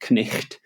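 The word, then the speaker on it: knight: i g h t, which in Middle English was pronounced knicht.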